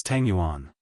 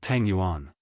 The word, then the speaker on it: Tangguan: Changing Chumo glared and said angrily, "It's Tangguan, not Tang Yuan.